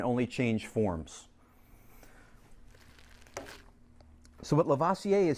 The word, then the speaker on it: Lavoisier: It's not until the 1700s we get to Lavoisier, Antoine Lavoisier.